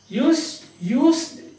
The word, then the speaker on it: used: Used to. U-S-E-D. Used. It is pronounced used. Used. As if at the end there is a T.